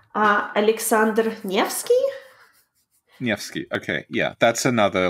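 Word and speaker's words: Александр Невский: 86 how do you say that name ah Aleksandr Nevski yes okay yeah that's another like very famous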